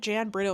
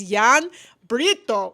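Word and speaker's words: Jan Brito: I remember talking to this Belgian guy and I was like, "Yeah, I'm staying at Jan Breurto." And he's like, "No, no, you typical tourists. It's Yan Breto."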